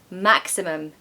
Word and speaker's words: maximum: the exceptions I'm sorry maximum this word has three syllables and of course the first syllable is stressed maximum now my theory